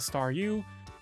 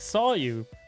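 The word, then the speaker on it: Staryu: Oh gosh, I totally forgot about this, but back when I was a kid and star was just still just a staru, I could never pronounce his name right. I was ended up Guys, my throat is dying. Oh, it ended up sounding like saw you.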